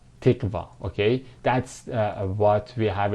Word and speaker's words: تقوى: God-living, God-loving, God-fearing, or again, that's what we call it as here as tiqwa, tiqwa, or 8615 tiqwa, that is pronounced like this, tiqwa.